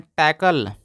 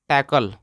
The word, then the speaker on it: talk: TALK, दोस्तों इससे काफ़ी लोग गलत पढ़ते हैं, यानी कि 100 में से लगभग 70 लोग गलत ही पढ़ेंगे। आप पढ़वा देख लीजिएगा। तो TALK को, इसको पढ़ते हैं टॉक, टॉक।